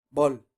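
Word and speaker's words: 벌: También es monosílaba, ¿cómo sería? Bull. Bull. Fuego. Luego la penúltima, bol.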